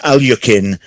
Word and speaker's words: Alekhine: Alekhine. It was, okay. Yes. I've credited that point to Paul because I think I heard you say that. So okay, that's right. Yes. So technically pronounced Alyukin, but I'm being generous